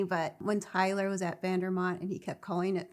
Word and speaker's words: Vandermont: I think the funniest thing, and it wasn't supposed to be funny, but when Tyler was at Vandermont and he kept calling it Vandermort.